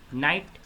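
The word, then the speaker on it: night: Wrong, W silent है, नाइट H silent है, हाई G silent है, डाउट B साइलेंट होगा, कुड L साइलेंट होगा, वाक L साइलेंट होगा।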